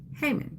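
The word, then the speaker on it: Haman: And another person would say Hammond or something like that, but it's Hmon. So that's the pronunciation.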